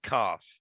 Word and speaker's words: kaf: and it's pretty it's kaf um which is pretty it's actually pronounced calf yeah which connects to